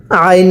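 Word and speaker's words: عين: আরেকবার এরপরে আইন ও আইনটা উচ্চারণের সময় গলার মধ্যে চাপ দিয়ে পড়বেন আইন আইন আই আই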